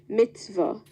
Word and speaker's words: mitzvah: Am I pronouncing the word correctly? Yes, you are. Mitzvah.